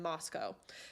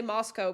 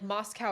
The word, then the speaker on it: Moscow: there's a lot of creepy shit happening in Moscow. And I'm gonna say Moscow because I've got a bunch of comments that I'm pronouncing it wrong, which I'm thinking of like Moscow, Russia.